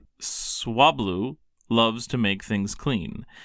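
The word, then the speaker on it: Swablu: Swablau cotton bird Pokemon. You said it wrong. Swablau. Cotton bird Pokemon. Say it right. Swabloo loves to make things clean.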